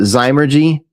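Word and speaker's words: Zymurgy: Everybody seems to pronounce it Zymergy, but I always called it Zimmergy.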